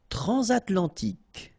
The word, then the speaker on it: transatlantique: Transatlantique. Okay, so at the end, tic. Remember, Q-U-E-K. Okay.